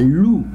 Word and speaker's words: loup: I don't pronounce the letter P. So here, un loup, O and U together all the time. When I see it, I pronounce it as two O, I say like in English. So I say O here, loup.